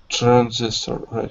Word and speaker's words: transistor: already right so try try pronouncing a ch sound here so it's true instead of thra transistor it's tr tran transistor transistor yes there you go